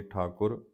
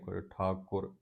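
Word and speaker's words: ਠਾਕੁਰ: सिर रिजक संबा है ठाकुर ठाकुर कके ठाकुर ठाकर नहीं कहना न ठाकुर काहे मन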